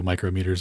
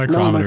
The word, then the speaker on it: micrometer: So these are all also micrometers as well, or micro screws. All right. Have I been saying micrometer like an idiot, or is it micrometer? No, it's No, micrometer. micrometer is correct.